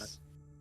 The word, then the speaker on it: Gakis: Gakis, or Gekakis or Gakis? Gakis. The X is silent. Gakis.